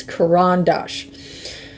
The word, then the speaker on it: Caran d'Ache: these both are by Caran D'ache. And that's, by the way, that's how you properly say it. A lot of people just don't seem to know how to say it right. It's Caran D'ache.